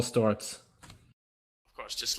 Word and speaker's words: Sztorc: It's Storz. In Polish, C is a different letter. Ah, It's pronounced TS. Storz.